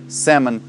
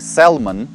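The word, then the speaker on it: salmon: читается не буквы by здесь не читается буква л это не салман а sam sam sam sam and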